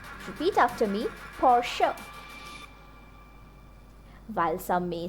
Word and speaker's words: Porsche: Many people mispronounce it as Porsche or Porsche, but the correct pronunciation is Porsche. Repeat after me, Porsche.